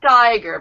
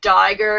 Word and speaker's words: tiger: Make your tongue a little bit more sharp, like kind of lift it up. Lift it up. Make it higher and narrower. Tiger. Tiger. Good. Better. Better. So I just want to mention, if you find yourself saying diger instead of tiger, you need to take your tongue and go.